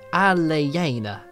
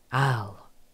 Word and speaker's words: Elena: More like Aleyena, as in I. It's so weird to explain because you don't pronounce E as E in my first language. Ah, I've got you now. So like Al-I-Ina.